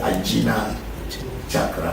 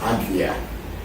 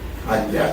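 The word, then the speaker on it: Ajna: lot of people do not know how to pronounce it in Sanskrit they say a chakra but it's not called a chakra the pronunciation is AGA AGA chakra which is the here sometime people call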